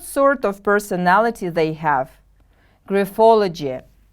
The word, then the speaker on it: graphology: of personality they have graphology the stress is on the second syllable repeat after me please graphology gryphology good job what